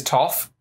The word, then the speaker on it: Toff: This is Toff. It rhymes with tough.